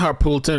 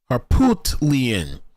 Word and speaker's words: Harpootlian: It's not Harpoolton, it's Harpoot. Harpootlian.